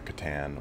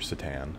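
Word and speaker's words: C'tan: like the Necrons and the Catan or Satan, however you want to pronounce it, but I go with Catan because that's what I think the designers wanted.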